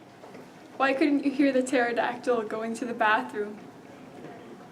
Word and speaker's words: pterodactyl: Why couldn't you hear the pterodactyl going to the bathroom? Because the P is silent.